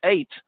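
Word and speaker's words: ט: So the tate, in order to say the tate, the tongue goes behind the teeth and there's a kind of explosive sound.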